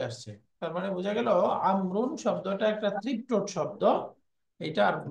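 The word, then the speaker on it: عمرو: বাক্য আসছে এখানে একটা নতুন নাম ব্যবহার হয়েছেন আমর আমরুন আমর আমর শব্দটা লিখার মধ্যে খেয়াল করছেন আপনারা শেষে একটা ওয়াও কোন উচ্চারণ হচ্ছে হচ্ছে না এই ওয়াও এর আলাদা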